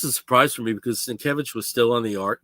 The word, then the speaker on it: Sienkiewicz: Yeah, and it wasn't too long after the New Mutants started that Bill Sinowitz, I don't know how his name is pronounced. Sienkiewicz.